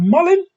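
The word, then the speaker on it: mullein: ever heard of a plant called Mullen it's spelled m u l l e i n now Mullen removes tar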